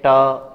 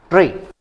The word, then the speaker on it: ट्री: देखें, यदि हम लोग इसको देखें तो इसका वर्ण विच्छेद इस तरीके से ट, हलंत, र और ई। उच्चारण कीजिए आप तो, ट्री ट्री, न कि टी, उच्चारण हो रहा है री ट्री।